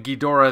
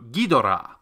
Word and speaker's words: Ghidorah: other has three see in Japanese a three syllable word has the first and third syllables emphasized unlike the second syllable